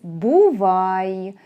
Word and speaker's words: бувай: There is another way to say bye, which is «бувай». «Бувай» sounds like English.